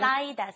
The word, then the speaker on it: 쌓이다: And the reason we had it was because I was pronouncing 사이다 wrong. You have to be very careful. Listen to Lisa's pronunciation. 쌓이다.